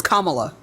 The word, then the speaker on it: Kamala: here and tell Kamala it's Kamala by the way pronounce it excuse me pronounce it right no no you said Kamala it's Kamala Kamala right are you going to